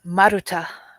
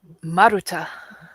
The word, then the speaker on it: Maruta: Well, I guess the one thing I'd like to do is pronounce my name. Yes. It's Maruta. Okay, do that again. Beautiful. Maruta.